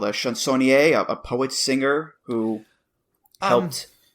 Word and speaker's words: chansonnier: A chansonnier, a poet singer who helped. Is that how it's pronounced by any chance? No, you pronounced it well.